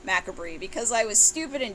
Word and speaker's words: MACABRE: So next is the 2000 release Macabre, which I used to call MACABRE because I was stupid and didn't know how to pronounce things.